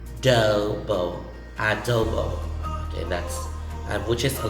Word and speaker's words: adobo: word it's pronounced as adobo you can say uh do bo so the letter o's have the long vowel sound of o dobo adobo okay that's which is